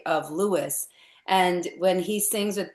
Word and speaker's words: Louis: that he did not prefer to be called Louisie.